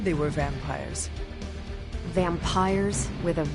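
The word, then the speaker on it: vampyres: do not you already said they were vampires vampires with a Y pronounce Ed exactly the same as vampires I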